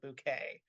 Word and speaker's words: Bucket: the house speaking but her last name is actually the word bucket but she pronounces it bouquet uh there something very